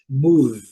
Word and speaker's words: move: Move, move, move. Letra E não pronunciada. Letra E o final sozinha depois de vogal ela não é normalmente ela não é pronunciada.